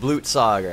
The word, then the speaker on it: Blutsauger: It's pronounced Blutsauger.